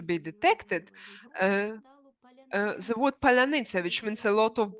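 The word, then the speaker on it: паляниця: After a number of Russians pronounce the word polunitsa, which means strawberry, instead of palanitsa, which means bread.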